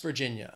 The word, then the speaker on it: Virginia: four syllables but again the stress in that second word that Virginia is on that second syllable West Virginia if you say it